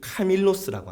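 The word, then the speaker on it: κάμιλος: 합니다 또는 약대 낙타의이 헬라와 발음이 카멜로 있데 밧줄이 한 단어의 발음이 카밀로라고 합니다 카멜로 카밀로 언어 유의서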